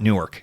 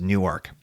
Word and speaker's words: Newark: is it's freaking Newark Delaware that's how you pronounce it is not Newark is Newark I'm just it's New York it just is